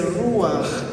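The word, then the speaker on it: רוח: el ejemplo del espíritu Espíritu en hebreo se dice ruaj pero tenemos las traducciones del inglés y en inglés se escribe ruach porque los angloparlantes dicen r y nosotros leemos r pero está está mal dicho y está mal leído entonces Bueno cuando hice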